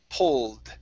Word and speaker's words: pulled: Okay, this word here, ed ending. Okay, pulled instead of pulled, it's pulled. Pulled.